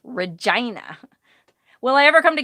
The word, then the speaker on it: Regina: right there's a town called what looks like regina in saskatchewan but it's pronounced regina will i ever come to canada yes i